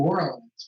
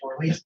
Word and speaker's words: Orleans: He was like, "Oh, you pronounce New Orleans, but you pronounce Orleans Parish, Orleans."